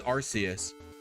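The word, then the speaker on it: Arceus: is just that we official products were made with its pronunciation as arus before they decided to change it to archus because they were worried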